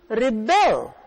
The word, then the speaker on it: rebel: is pronounced differently and because the stress falls on the second half it's a different word children rebel against their